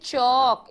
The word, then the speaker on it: chalk: this blackboard is black but this chalk, CHAL के chalk, इसमें L की आवाज नहीं आती, साइलेंट है।